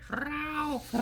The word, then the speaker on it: Frau: Frau. Eric. The button gets hit. Frau! Front of your tongue. Yeah. that's how it Eric, not the back, the front of your tongue. Like roll your R.